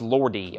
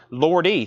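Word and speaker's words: Lordi: at 90 now it's at 95 it is pronounced lordy okay Lord e thank you 38.99 the arocalypse I've got two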